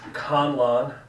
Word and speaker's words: Conlon: It's Conlon. I don't know why that's so hard. Con, C-O-N, like to defraud.